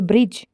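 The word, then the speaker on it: bridge: for silent letter D letter D इज not pronounce in द DG combination जहां पर डी NG combination होगा वहां पर डी जो है वो नहीं प्रोनाउंस होगा जैसे कि ग्रज hedge plunge and Dodge ये ऐसे वर्ड्स है जहां पर यह प्रोनाउंस नहीं होता जैसे कि ब्रिज और नॉलेज तो ये इसके एग्जांपल्स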